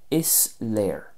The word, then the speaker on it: Is léir: Next, is léir. Is léir. And that just means it's clear. So that should be easy to remember because it sort of rhymes with the English version.